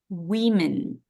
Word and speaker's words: women: or five we say women women okay we spell it with O and with e so this letter is changed but okay illogically but as it is this o becomes a sound e women women women women